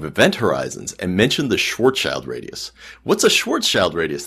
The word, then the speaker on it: Schwarzschild: weird and I said but it only has two syllables Schwarzschild shorts out like I'm